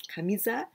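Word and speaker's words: 上: in Japanese culture, because kamiza, this is very important. At first, I'm going to explain you about this kanji, kamiza. Well, this kami, here we pronounce kami, but you know this is ue, up, ue, upward, ue.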